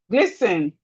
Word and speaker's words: glisten: Glisten.